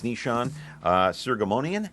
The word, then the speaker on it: Nishan Soghomonian: And with me now is Nishan Soghomonian, and did I pronounce that correctly?